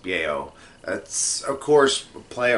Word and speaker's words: Bao: Bao, I think is how it's pronounced. Bao.